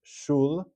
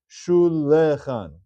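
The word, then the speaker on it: שולחן: This is going to be read as Shulchan, Sheva Nach, 2 syllables. Let's see, what would be the wrong way to read it? Shulechan. We don't read it that way.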